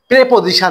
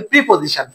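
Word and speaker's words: preposition: হলো কোন বাক্যটাকে বড় করে লিখতে গেলে আপনাকে প্রিপজিশন যোগ করতে হবে নট উচ্চারণ প্রিপজিশন আমরা কিন্তু এই লেভেলে সবাই বলি প্রিপজিশন আপনি মার্কেটে ভালো ভালো বই পড়ে দেখবেন অবশ্যই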